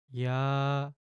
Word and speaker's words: 야: 여 여 야.